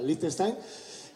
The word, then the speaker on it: Liechtenstein: el Principado de Liechtenstein, o Liechtenstein, como se escribe, se pronuncia Liechtenstein, y de ahí pasaremos a Alemania para finalmente llegar a Francia.